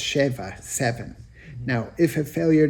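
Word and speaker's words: שבע: Do not read sava sated. The accepted vocalization of this word rather read it as if the word were pronounced shva.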